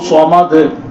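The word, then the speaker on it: الصمد: அதே மாதிரி நம்ம தினமும் ஓதக்கூடிய குல் ஹுவல்லாஹ் சூரா, குல் ஹுவல்லாஹு அஹத் அல்லாஹு ஸமத் அப்படின்னு சாத வந்து வாயை குவிச்சு சொல்லணும். சோத் அப்படின்னு நம்ம என்ன செய்யறோம், சீன் உச்சரிக்கிறோம்.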